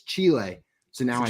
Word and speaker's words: Chile: then jl was like it's not chili you nincompoop you idiot it's chile so now i say